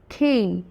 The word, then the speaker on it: Came: এই এই খ এই খেইন। তো খেইনের জন্য এই আইপিএস সিম্বলটা প্রয়োজন, কিন্তু যখন আমরা ক্যামেল বলছি তখন এই এ সাউন্ড, এ ক্যামেল।